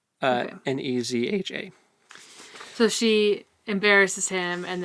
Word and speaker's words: Nezha: Is it Nejiang? Is that his name? Yes. It's... It's spelled... Where'd it go? I just had it. Oh, it's just Neja. Nezha.